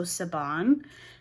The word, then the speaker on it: Siobhan: her middle name is Siobhan, which is spelt the same way. But I believe that the owner of this shop pronounces her name with the B, so Saban.